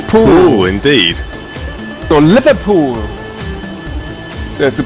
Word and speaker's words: pwll: what is it in English how do you pronounce it in Welsh powering up like giving away a ruling whoa and it's pool indeed the Liverpool there's a pool not Liverpool